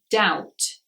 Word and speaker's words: doubt: a letter B is it's not usually pronounced when it comes before the letter T so words like doubt debt subtle you cannot hear the bead in those words the next one is